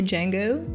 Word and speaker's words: Django: Okay guys, well that was Django Unchained, and I learned how to say Django. The D is silent, hillbilly.